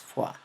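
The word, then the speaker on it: Foix: como maniobra de pfoa ojo es francés se escribe fox de la manera correcta de pronunciar es fue bien que esperamos encontrar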